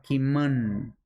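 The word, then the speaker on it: kimün: Una vez me dijeron que cuando aparece una U con dos puntitos, se pronuncia kimun, kimun, no tanto como una U, el mapudungún.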